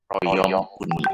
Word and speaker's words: Royaume-Uni: Nah, AU dibacanya U. Royaume-Uni.